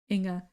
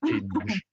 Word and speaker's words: Inga: So like just like a very soft G. Okay. Not Inge. Yeah, so like the NG combination is very Dutch way to pronounce things, and I don't think there's many languages that use that exact sound in words. So I'm used to people who are not non-Dutch to not understand how to pronounce my name.